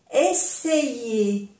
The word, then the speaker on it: essayer: Essayer, essayer, intentar. Essayer. O sea que y esto se, essayer. A-I igual a Y. Y se pronuncia essayer.